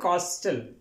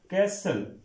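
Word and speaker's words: castle: स्टग stay अब next word है कॉस्टल कॉस्टल नहीं पढ़ते इसको अब देखा जाए तो कॉस्टल ऐसे ही बन रहा है लेकिन यह वर्ड है कैसल कैसल एसल लिखेंगे कैसल यानी यहां पे टी साइलेंट होगा कैसल मीन के जिस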